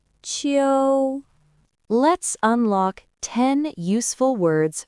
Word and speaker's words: 秋: It is pronounced in the first tone. Repeat after me. Qiu, Qiu, Qiu.